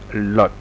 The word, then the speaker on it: 律: Unicode, the Pinyin, Mandarin, and Lu, the U with two dots. For those who know German, we know the sound, how to pronounce it, somewhat different to U. Without two dots, maybe Lu, but Lu with a two dots. In Cantonese, it's Lot.